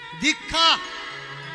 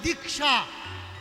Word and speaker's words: দীক্ষা: দিলা না ভাই অধর্ম কোন কাজে আসবে না দীক্ষা দয় দীর্ঘা আকার একচুয়ালি উচ্চারণ হবে দীক্ষা কিন্তু চলতি ভাষায় আমাদের বলা লাগে দীক্ষা বলা